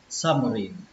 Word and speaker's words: submarine: Như vậy là cái từ này chúng ta sẽ đọc là submarine. Xin lỗi các bạn, lên trọng âm thứ ba nhé.